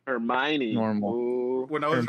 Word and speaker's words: Hermione: Well, C3PO and R2D2 are that's basically I always forget how to pronounce her name because it's not Hermione. Normal. Ooh. When I was reading the books, I read it as Hermione.